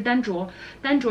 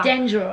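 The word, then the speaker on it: Dendro: 主说嘎，所以就是单卓。然后我们用那种英语发音来说一下的话，单卓，对，就是这个 D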